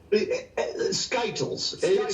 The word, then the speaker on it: SKTLs: to be cute you know how do i pronounce this skytyles stands for sky perfect sky's the limit skt